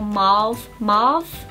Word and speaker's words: mauve: So the first one I picked up is this kind of taupey kind of mauve colour, or marve, How do they say it in America?